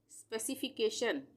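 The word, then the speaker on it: specification: अब है स्पेसिफिकेशन, स्पेसिफिकेशन, इसको हम कैसे तोड़ेंगे, SPECI एक साथ ले लेंगे, स्पेसी, SPECI स्पेसी, FIFCAKTION शन, यहाँ पे जहाँ पर भी TION होगा उसका उच्चारण शन होगा, TION एक साथ जहाँ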